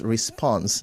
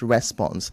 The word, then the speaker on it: response: So Laurels, the word is response, not response. The stress is on spons, not on the response.